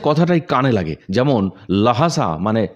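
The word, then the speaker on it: Lhasa: হটসে কথাটাই কানে লাগে, যেমন লাহাসা মানে লাসা।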